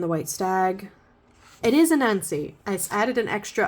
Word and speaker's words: Anansi: It is Anansi. I added an extra. I always want to add an extra syllable in that. It's Anansi.